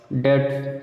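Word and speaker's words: debt: डेट, ठीक है, डेप्ट नहीं पढ़ते, डेट, तो दैट, डेटर, ठीक है, डाउटफुल।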